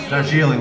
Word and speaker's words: Darjeeling: Darjeeling, like the tea.